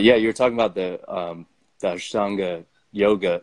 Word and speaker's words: Ashtanga: But yeah, you're talking about the Ashtanga yoga. Am I saying it right? Yeah, Ashtanga. I think so. They say it all kinds of weird fucking ways, but yes.